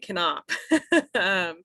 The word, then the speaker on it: Knopf: the way i'm knopf you do pronounce the k in my name i know it's crazy